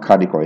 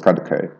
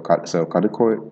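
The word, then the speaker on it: Kadıköy: istanbul called kadikoy but it's not kariko it's kaduke um so putting so like writing the dartless eye and the umlauted o so kadukoi not karukai it's hard for me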